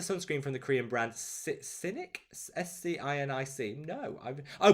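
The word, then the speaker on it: Scinic: ever tried the sunscreen from the korean brand cynic s-c-i-n-i-c no i've oh pronounced synic i love it how you put the pronunciation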